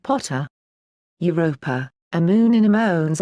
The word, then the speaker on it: Pater: Ammon is also Pa, Thor, Jove, and Pater, pronounced Potter.